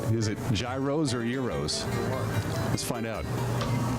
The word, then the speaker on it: gyros: What is the pronunciation? Is it gyros or euros?